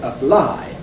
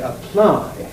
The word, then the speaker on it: apply: in the stressed syllable we don't say apply in other words we say apply that P is strongly aspirated which must therefore indicate